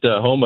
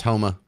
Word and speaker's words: Houma: I was down in Louisiana for that when it hit Houma a couple years back, and it was super creepy to show up out there help my niece, and nothing has power on.